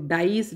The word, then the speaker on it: dies: बच्चों यहाँ पर आपको ये जो डाइज DIES होगी, यहाँ पे स्पेलिंग थोड़ा सा मिस्टेक हो गई है, ये